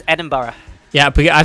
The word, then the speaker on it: Edinburgh: the correct one but we mostly just say edinburgh yeah and bro as long as it's not burke then you're fine edinburgh and that's a